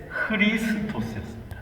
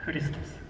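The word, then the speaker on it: Христос: 좀 이상했었는데 그게 흐리스토스였습니다. 흐리스토스. 그래서 흐리스토스라는 P가 사실 R 발음입니다. 리스토스니까 R 발음인데 이제 종교 그렇게 이제 러시아 말도 이제 그렇게 되어 있는 거죠.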